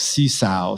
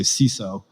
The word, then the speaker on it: Sesow: painting um so that the way it reads is like see sow so you probably know how to pronounce my name so what i did later is i moved the w down so people would say siso which is the correct pronunciation so the other ones